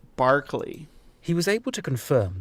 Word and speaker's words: Berkeley: I'm calling you Zebra because we're using British pronunciations today. Hi, Zebra. And this is Berkeley. This place is Berkeley Square, not Berkeley. Berkeley.